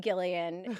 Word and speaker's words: Gillian: So, I uh my mom read the name in a book, had never heard anyone say it out loud, and she thought it was Gillian, so I'm Gileian.